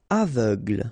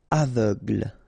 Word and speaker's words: aveugle: Aveugle. Same thing. Final E, not really present. So aveugle, gle, aveugle.